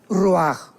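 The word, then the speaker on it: רוּחַ: parte espiritual que es la palabra ruajach, que se pronuncia roaj.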